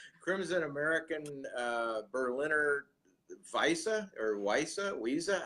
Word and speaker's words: Weisse: Crimson American Berliner Weisse, how is that pronounced?